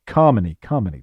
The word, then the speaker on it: Kamini: wishes in advance of marrying Kamini uh pronounced like Carmony.